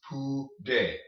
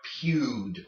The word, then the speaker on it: pude: Okay, the U makes the oo sound and the E makes the sound. So, pude, okay? Pude. This comes from the verb poder, which means to be able to, and this is how you say I was able to do something. It's in the past tense, but we'll talk about that later. But it's pude, not pewed, okay, or pooed. Pude.